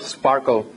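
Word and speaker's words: SPARQL: or owl it's called Sparkle it's spelled as s-p-a-r-ql but people call it Sparkle and it's a reverse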